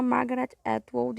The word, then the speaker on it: Margaret Atwood: Bom, eu errei a pronúncia do nome da escritora, que se chama Margaret Atwood, e o livro foi escrito em 1985.